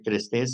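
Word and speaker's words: chrestés: Y luego otra palabra, crestés con che, sí, diría trestés, pero bueno, se pronuncia crestés, según yo.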